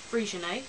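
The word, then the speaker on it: Freixenet: boozes we tried the frian that's how you pronounce it I know it's got an X in it but it's Spanish which was very nice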